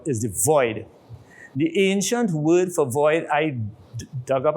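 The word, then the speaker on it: wyrd: The ancient word for void was word, but it's not W-O-R-D. It had nothing to do with scriptures, nothing to do with any writings. It was W-Y-R-R-D, pronounced word, which meant the void.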